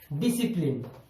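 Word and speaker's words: discipline: ठीक उसी तरह एस और सी आया, एस के बाद सी आया, तो यहां पर सी हो गया साइलेंट, तो हम इसे पहले पढ़ेंगे डिसिप्लिन।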